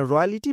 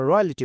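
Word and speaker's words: royalty: রাজকীয় ব্যক্তিবর্গ মানে রয়্যালিটি মানে হচ্ছে রাজকীয় ব্যক্তিবর্গ, যারা একটু ধনিক শ্রেণী, এলিট শ্রেণীর মানুষজন, তাদেরকে আমরা রয়্যালিটি বলতে পারি। রয়্যালটি, উচ্চারণটা রয়্যালটি।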